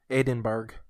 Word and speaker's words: Edinburgh: Drake yep gosh and finally Edinburg that's how you say it sound like Aidan berg now Edinburgh okay alright